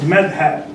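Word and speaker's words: madhhab: This is pronounced madhab, right?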